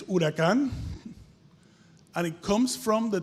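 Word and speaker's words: huracán: it's a good drink in Spanish it's urakan and it comes from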